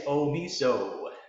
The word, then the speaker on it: Omeasso: His name is Omeasso. Welcome to the show. Yes, thank you, Nancy. Thank you very much. Yeah, it's Omeasso.